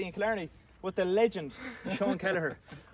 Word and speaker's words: Kelliher: So we're here in Ross Castle in County Kerry in Killarney with the legend Seán Kelliher. Or Kelliher, as you pronounce it in Kerry.